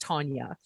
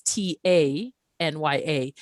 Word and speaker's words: Tanya: our names and for me my name is tanya and it's pronounced tanya but if you see it spelled it's t-a-n-y-a and i have often be been called tanya